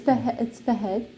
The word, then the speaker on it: Fahad: Hey guys, so in today's video, I have a special guest here, which is my husband, Fahad. Okay, it's Fahed, but Yeah. in Arabic.